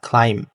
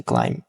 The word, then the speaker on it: climb: এখানে মূলত বি উচ্চারণ হয় না, ক্লাইম্ব। এখানকার বিটা হচ্ছে একটা সাইলেন্ট লেটার, সো ক্লাইম্ব বলা যাবে না, এটা হচ্ছে ক্লাইম্ব।